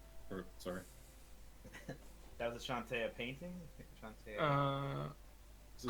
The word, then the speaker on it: Chauntea: serving dishes, and a few religious carvings of Shantea. Of who? Shantea. Weapons. Can you spell that out and say the Shantae part one more time? Chauntea.